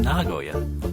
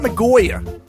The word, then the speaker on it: Nagoya: whenever you're Nagoya and it is pronouncing Nagoya yes not ngoya no it's just Nagoya Nya